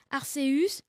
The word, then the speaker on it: Arceus: Quelle est la prononciation exacte? Arceus, Arceus.